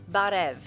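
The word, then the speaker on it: Բարև: in Armenian and um you say it's barev it's what it's spelled um b-a-h-n-r-e-v right so barev and Armenia is sort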